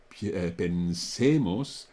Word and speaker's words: pensemos: The stress is on the middle syllable, pensemos, penséis, but on all the other forms, the stress is on the first syllable, or the penultimate syllable, ultimately.